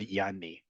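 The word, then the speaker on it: يعني: In Arabic, for example, and it's a word that's borrowed into Hebrew, we have the word yani. You've probably heard that before. Yani, or if you really pronounce the ayin, right?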